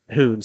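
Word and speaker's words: Huhn: Taking up for your Titans will be number 12, Cole I'm pretty sure with the H-U-H-N that says Hoon, so Dylan Wattoon.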